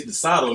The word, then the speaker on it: DeSoto: And it's DeSoto, not the song.